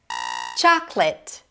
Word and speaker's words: chocolate: And this chocolate. Chocolate. Not chocolateate. Chocolateate. Chocolate. Primary stress is on the first syllable yet again.